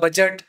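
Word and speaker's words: budget: आपको जिस तरह से बहुत सारे स्टूडेंट को दिक्कत होती प्रोनाउंसिएशन किस तरह से किया जाए, like बजट D silent and malign ji silent, तो इसमें pronunciation first we start from pronunciation.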